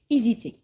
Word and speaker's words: hésiter: Donc regardez عندي le verbe hésiter. أنا c'est un H muet. Le H اللي ما يتنطقش كشغل عندي voyelle.